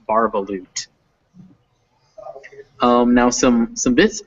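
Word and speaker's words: Bar-ba-loot: very good very good correctly guessing how to pronounce barbaloot um now some some bits um that word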